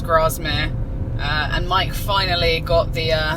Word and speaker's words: Grasmere: wasn't with the crossman it was grasmere grasmere i think it's pronounced grasmere uh and mike finally